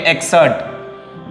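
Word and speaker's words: excerpt: यह एक एक्सर्ट means होता है ये पी प्रोनाउंस यहां पे नहीं होता है। इसको हम लोग पढ़ेंगे एक्सर्ट।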